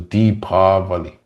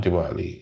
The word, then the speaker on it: Deepavali: In the West, they use two I's for pronunciation, but the line above the letter means you extend the pronunciation of the word. So it's Deepavali. So the classic Sanskrit word Deepavali, not Diwali, is formed Deepa, mean